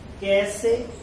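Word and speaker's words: cache: कैसे कैस इसे कहते हैं, कैसे नहीं लिखा सी ए सी एच ई, लेकिन यहाँ सी एच ई सा बनता है, आपको प्रोनाउंसिएशन का भी एक लेक्चर दिया जाएगा जिसमें आपको बताया जाएगा कौन सा वर्ड कहाँ आकर के बनता है, यहाँ सी एच ई सा बन रहा है, ये कैस।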